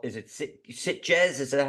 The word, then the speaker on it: Sitges: Sitges. Oh, There's a T.